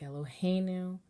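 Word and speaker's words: אֱלֹהֵינוּ: But now that we have a Hebrew word that has the accent in the middle syllable, the melody for Tipcha needs to be moved over.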